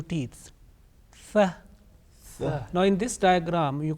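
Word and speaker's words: ث: To pronounce this letter correctly, it is important that we touch the tip of our tongue softly to the edges of our top 2 teeth, front 2 teeth, like Thaa, Thaa.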